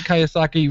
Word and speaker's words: Kiyosaki: name yeah that i probably read them robert kiyosaki rich dad poor dad like it was like